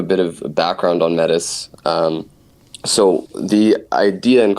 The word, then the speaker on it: Metis: uh so number one how how should people pronounce it I mean the most official way is metis it's the Greek goddess of wisdom Good Counsel and Prudence um but more often than not I just say Mattis all right so it yeah so whatever whatever